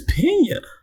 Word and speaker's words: Peña: All right, Michael Pia, his name is Pena. They got his name wrong. This entire article it is PA.